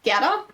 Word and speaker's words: Gerda: I mean, in German, you pronounce it Gerda.